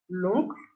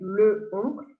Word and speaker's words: l'oncle: Le and la become L apostrophe in front of a vowel or a H, like a mute H. For example, l'oncle. We don't say le oncle, we say l'oncle.